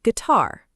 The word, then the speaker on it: guitar: Question two, how do you pronounce the word guitar? The answer is gui-tar with a silent U right after the G.